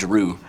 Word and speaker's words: Giroux: Claude Giroux. Drew. Yeah. Drew. Like Andrew, pretty much.